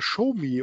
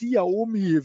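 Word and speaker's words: Xiaomi: einer der handelskrieg verlierer war schumi oder romy wie sie geschrieben wird das ist der drittgrößte fahrzeughersteller weltweit der erste ist ja hier apple dann samsung dann kommt auch schon schumi ausgesprochen hat ein riesen flagship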